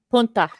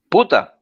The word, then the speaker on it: Puta: Punta. Punta. Puta.